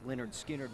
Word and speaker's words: Lynyrd Skynyrd: album in November 1973 although pronounced Leonard skinnard was a hit the